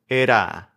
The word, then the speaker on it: era: pad of and then if you use that same sound say era instead of part of ira that's the sound of era which is a spanish word that has r in the middle although it doesn't sound to english speakers like an r it is an r in spanish era go ahead and